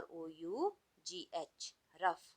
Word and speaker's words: rough: In these words GH sounds like F.